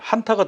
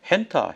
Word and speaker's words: 한타: 한탄 바이러스 한탄 바이러 발음하기 어려우니까 한타 바이러스 저 우리는 한타 바이러스 그러는데 한타가 더 맞는 말이죠. 근데 미국 사람들은 한타라고 안 그래요. 미국 방송 들어보면 핸타 핸타 뭐 해 이게 뭐야?